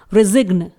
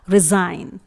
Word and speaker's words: resign: जी हाँ, ये wrong pronunciation है क्योंकि यहां पर हम G को प्रोनाउंस नहीं करेंगे। N से पहले G आया हुआ है जो कि साइलेंट होता है, तो इसलिए यहां पर इसे करेक्टली प्रोनाउंस किया जाएगा रिजाइन।